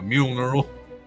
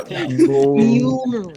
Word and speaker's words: Mjolnir: I'm no stranger to a funeral mule, a mule knurl. Ow. Mule Oh no. neural. Funeral? It's like the worst mispronunciation of Mjolnir. Yeah. Mjolnir.